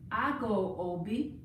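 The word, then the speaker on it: ago: the first thing you want to say is i go ob which is spelled a g o i go ob i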